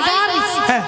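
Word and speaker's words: girls: নিয়া পুড়ি শোনো মাসি, হাই গেলাস বলে না, বলে হাই গার্লস। হাই গাল। গাল নয়, বলো গার্লস।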